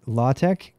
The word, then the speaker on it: LaTeX: Knuth pronounces it LaTeX.